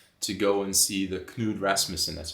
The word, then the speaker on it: Knud Rasmussen: And I do have to say, we had planned to go and see the Knud Rasmussen, that's how you say his name, right? Knud Rasmussen, yes.